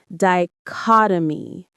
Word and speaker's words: dichotomy: The stress is on the second syllable. Caught. Dichotomy.